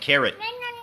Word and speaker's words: carrot: อ ก เ สี ย ง ว่ า carrot carrot ไ ม่ care เ พ ร า